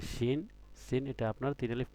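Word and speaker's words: شين: তার মানে কি একটা শিন। আর যদি নক্ত না থাকতো তাহলে কি থাকতো? সিন থাকতো, সিন। তো আমরা শিনটা উচ্চারণ করি শিন, শিন, সিন, শিন, সদ।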